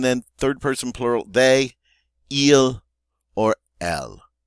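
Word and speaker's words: ils: And then third person plural, they, il, or elle. And they have an S, but don't pronounce the S's.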